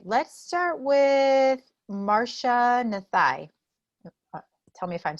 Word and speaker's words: Marcia Nathai: All right, let's start with Marcia Nathai.